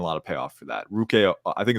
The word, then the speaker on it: Ruke: Ruke, I think it's Ruke a rubber row. That's how you pronounce it, a rubber row.